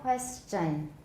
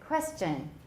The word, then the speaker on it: question: question popular in taiwan don't round your lips too much for the cha everyone question that sounds good question question question okay um